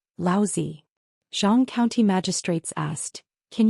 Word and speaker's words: Laozi: Li Mu corrected his pronunciation and said, Laozi.